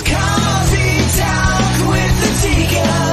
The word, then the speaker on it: Adika: It's coffee talk with the Tika. Nothing rhymes with that but chicken tikka.